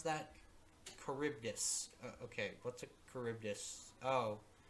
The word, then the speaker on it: Charybdis: Storius makes the, how do you pronounce that? Charybdis.